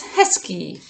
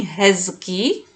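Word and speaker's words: hezky: you first one is heskey heskey you may have already noticed that i am not saying hezuki i'm saying husky yes instead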